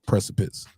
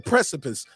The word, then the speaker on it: precipice: to the precipice I said it right right precipits I always remember somebody's like yeah you pressing